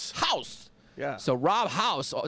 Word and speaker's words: Hause: How do you pronounce that? House.